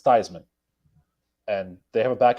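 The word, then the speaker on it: Theismann: a question for you how do you pronounce your name and Joe Theisman actually said we pronounced it these men for the longest time it's Joe theseman Roger says no it's not it's Theisman and they have a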